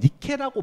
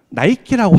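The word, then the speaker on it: Nike: 그러니까 예를 들어서 이렇게 써 놓는다고 하면 사실 저희가 이거를 모른다라고 한다면 니케라고 발음할 수가 충분히 있어요. 근데 여기 있는 사람 다 물어봐도 나이키라고 하겠죠.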